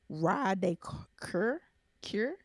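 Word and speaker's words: Roi de Cœur: It's pronounced Ra de Cure.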